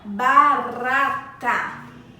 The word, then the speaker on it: barata: Agora, barata. Barata. Esse R sai através da língua, nossa língua treme.